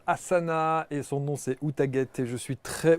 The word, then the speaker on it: Outaghate: Elle se prénomme Asana et son nom c'est Outaguet. Et je suis très... Outagat ou Outaguet, comme on dit Asana, Outagat. bonjour. Outagat, Ouais. on a envie de la prononcer à l'anglaise. Oui, Outgate.